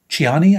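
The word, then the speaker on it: Ciani: was enough for me suzan chani I think is how you pronounce it c i a n i is how you spell her last name but yes she is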